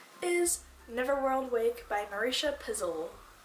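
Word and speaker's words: Pessl: Neverworld Wake by Marisha Pizzle. I googled how to pronounce her name and it literally just spelled her name out. Like P-E-S-S-L. But Pizzle is how I'm gonna pronounce it.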